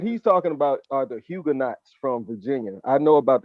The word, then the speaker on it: Huguenots: He talking about some hugger nuts. It's the Huguenot. Huguenots. Say it right.